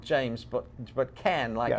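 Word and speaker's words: Cannes: did but I said calm it's I'm just I'm just not James Caan no not James but but can like a can of beans uh-huh but you know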